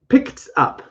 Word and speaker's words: picked up: Picked up. And it would be a t sound. Not picked, but picked up with a T pronunciation.